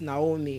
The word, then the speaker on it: Naomi: I said the name is pronounced as what? Naomi, and not Naomi. It's not Naomi, it's Naomi.